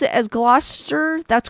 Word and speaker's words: Gloucester: the scene being skinned alive oh crazy just pronounced it as Gloucester that's correct okay I didn't want to butcher